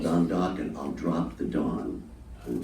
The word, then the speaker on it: Dokken: So I said, we'll just call it Dokken, and it rhymes with rockin', and we'll see what happens.